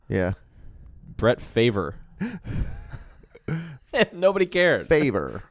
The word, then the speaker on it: Favre: Favor. That's how it sounds.